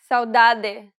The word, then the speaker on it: saudade: The way you pronounce them varies based on the region you're visiting in Brazil. Don't worry about it too much, though, because they're just that, variations. Both pronunciations are correct, and you'll be understood regardless of which one you use.